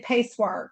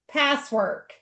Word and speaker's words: Pasewark: So, I always want to say pacewark or pass. I'm gonna say it right now. Yeah, she told me what it is. So, you say it passwork. P SS work, okay? Not pace work or whatever, okay?